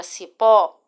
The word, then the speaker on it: cipó: Se vocês perceberem, a palavra cipó apresenta a sílaba forte no pó, correto?